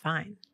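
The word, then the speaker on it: Fiennes: Ralph Fiens. That's how you say it. Okay. Yeah. I don't think that's how you say it. It's probably not. I don't I'm pretty sure that it's pronounced fine.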